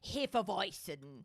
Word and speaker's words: Hefeweizen: It's pronounced Hefeweizen.